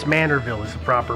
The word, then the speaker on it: Manorville: in in the town of I believe it's Manorville is the proper pronunciation there the bodies that were found belong